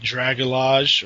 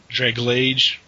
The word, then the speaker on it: Dragalge: I got that that Dragalage or whatever, Draglage. Yeah, the evolved form of Skrelp. The way I've heard it pronounced is Dragalge because. Scroll. Algae, yeah.